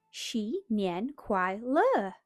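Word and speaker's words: 新年快乐: "You say it like this. Xi Nian Kuai Le."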